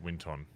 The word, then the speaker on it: Winton: His name's not Winston, by the way. It's Winton. Yeah. There's Winston.